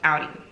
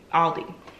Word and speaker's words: Aldi: stuff i got from audi aldi let me stop butchering that where y'all correct me